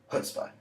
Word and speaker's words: chutzpah: Again, something that galling or annoying shows that that person has chutzpah. Remember, don't pronounce the first C, kind of go chutzpah. And don't spit on anyone because, well, they'll find that galling.